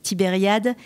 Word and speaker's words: Tibériade: de tibériade de veria alors tibériade le prononcé à la française tibériade où les juifs espagne